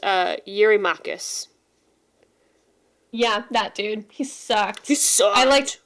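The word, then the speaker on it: Eurymachus: My translation says that he's it's it's pronounced uh Yuri Makus.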